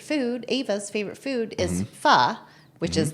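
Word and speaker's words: pho: can't really take credit for it but uh my daughter's favorite food Ava's favorite food is fa which is that's how you pronounce p h o not fo it's not Fox oh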